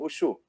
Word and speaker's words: Wushu: O que o pessoal pronuncia mais aqui é o W com som de V, então ficaria o Wushu.